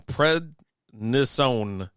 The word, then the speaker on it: prednisone: You almost said it right. Prednisone? It was close. Yeah, you're almost there. I put the wrong emphasis on the wrong syllable.